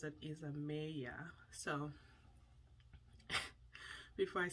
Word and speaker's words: Isamaya: So she said Isamaya, as in A, the alphabet A, because in my language, the alphabet A is pronounced A. So my thought was to say Isamaya, but she pronounces it Isamaya.